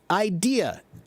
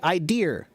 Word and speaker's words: idea: a BBC reporter and for example they say the word idea idea it's spelled i d a but I often hear British say idear idear there's like an r on the end of it and I don't know